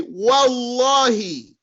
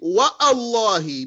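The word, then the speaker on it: والله: Russell you go right through it you'll say wallahi and you don't say what Allah he because it's not a Hamza to Cutler Hamza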